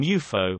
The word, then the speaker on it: UFO: the term derives from UFO which is pronounced as an acronym and the suffix Logie